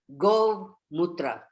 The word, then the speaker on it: Gomutra: Can you spell it? So I think it is G-O-V. Go Mutra.